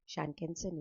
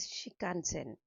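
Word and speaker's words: Shinkansen: जब वो रिसर्च कर रहे थे तो ये इफेक्ट, शानकेंसन इफेक्ट जो था, वर्ड एग्जैक्ट प्रोनाउंसिएशन इज शिकानसेन।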